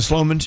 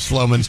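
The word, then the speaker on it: Slomin's: I tell you what, I love the Sloman's Shield Link.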